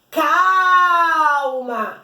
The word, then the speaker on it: calma: eu vou dizer assim calma é o cal que sai mais demorado mas pausado então é ele é